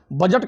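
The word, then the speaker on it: budget: और उसकी spelling B यू डी जी ई टी जिसमें डी क्या है? साइलेंट।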